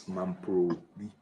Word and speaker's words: Mamprobi: Make sure Mamprobi. It's Mamprobi. The R, they don't maybe pronounce the R. They are pronounce it like in the L fashion.